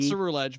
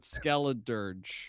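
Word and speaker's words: Skeledirge: Serge, not Suru Edge, but Skeleadurge.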